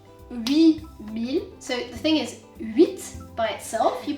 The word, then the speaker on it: huit: But generally speaking, the 8, if it's standing by itself, you say 8. Okay, you pronounce the T.